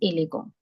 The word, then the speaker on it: élégant: This E with exo aigu is called A. Ele, and the sound of AN is T being the last letter, we just ignore it. So that is élégant.